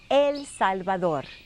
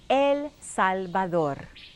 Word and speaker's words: El Salvador: In Spanish, it is spelled the same way, but pronounced El Salvador. Say it with me. No amigos. El Salvador.